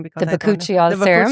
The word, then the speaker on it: Bakuchiol: So I am using, you have to help me to pronounce that name because the I don't know. Bakuchiol serum. Bakuchiol, Yes.